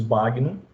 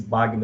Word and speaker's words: Bagno: A pronúncia original do nome dele é Bagno, né? Porque esse Bagno é do italiano, mas a gente vai chamar aqui de Marcus Bagno, tá bom? Vamos aportuguesar a pronúncia do nome dele, tá certo?